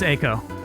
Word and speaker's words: Eiko: In Japanese, it is E, which is pronounced like a long A. So you would say it's Eiko.